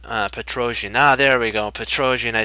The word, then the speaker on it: Petrosian: cool thing about Petrosian now there we go Petrosian I said it right finally I got it